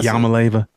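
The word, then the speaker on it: Iamaleava: Is it Yamaleva? Did I say it correctly? Yeah, Yamaleva.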